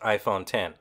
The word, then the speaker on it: iPhone X: the Apple iPhone 10 although the new iPhone is written down on paper as iPhone X it's pronounced iPhone 10 the iPhone 10 features